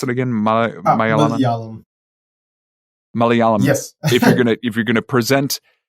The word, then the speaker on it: Malayalam: and in this case, being how do you pronounce it again? Malayalam. Malayalam.